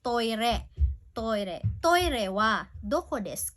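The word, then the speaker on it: トイレ: Okay, by the way, toilet here is pronounced toire.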